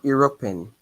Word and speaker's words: européenne: L'Union l'Union Européenne. Okay, so EU here is E, not U.